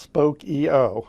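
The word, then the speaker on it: Spokeo: the company's blog and evidently it is pronounced spoke EO so we'll go with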